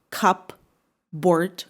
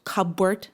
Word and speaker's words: cupboard: It is not cupboard. Cupboard. No, it is cupboard.